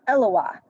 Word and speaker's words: Eloah: is allah which is in hebrew that would be pronounced eloah so it sounds like